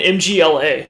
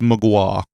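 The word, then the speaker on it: Mgła: I've heard people literally go, "Yeah, I love that band MGLA." It's like, "Oh, it's it's great. I love all the different No, I think it's pronounced Mua, like MG WA."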